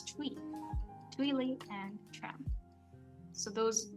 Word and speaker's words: Thuy: It's not T, it's Thuy.